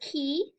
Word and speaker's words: qui: PS so the word key um means whoo and it's pronounced pretty much just like a key I mean English that